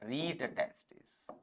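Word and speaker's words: rete testis: नाम क्या होता है, रीट टेस्टिस। कुछ लोग इसे रेट टेस्टिस भी कहते हैं, ठीक है ना, वो प्रोनाउंसिएशन का फर्क है, ठीक है ना।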